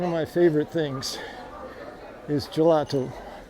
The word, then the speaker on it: gelato: It's one of my favorite things is gelato, which is, I just pronounced intentionally in a Italian way. Ice cream in Portuguese is gelado with a D.